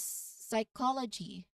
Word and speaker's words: psychology: For our first word is psychology. We actually mentioned this one earlier when talking about word origins. Here, the P comes before an S and it is completely silent. You know, it's pronounced as psychology.